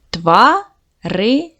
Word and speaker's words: тварини: Ділимо на склади. Тварини. Наголос падає на другий склад.